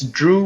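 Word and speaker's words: Dhruv: So it's Drew with a V. It's D H R U V. Drew, but the H is silent.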